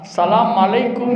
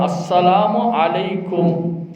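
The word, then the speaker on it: السلام عليكم: செய்வானாக என்று சொல்லுவார்கள் இன்றைக்கு சலாம் உடைய வார்த்தையை பார்த்தா சலாம் அலைக்கும் என்று சொல்றாங்க தப்பு என்ன சொல்றாங்க சலாம் அலைக்கும் மீம் வச்சர்றாங்க இந்த இடத்துல ஐனுடைய உச்சரிப்பை நாம் கொடுக்க வேண்டும் அஸ்ஸலாமு அலைக்கும் என்ற வார்த்தையை பயன்படுத்த வேண்டும் அப்ப அல்லாஹு சுபஹானஹுத்தஆலா இந்த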